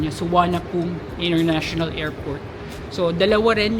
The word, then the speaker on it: Suvarnabhumi: kung Babasahin mo yung spelling niung airport is suvarna bumi Pero sabi n mga locals It's suana pum so yun yung pronunciation niya suan pum International Airport so dalawa rin yyung main airports